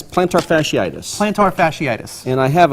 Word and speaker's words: plantar fasciitis: It's plantar fasciitis.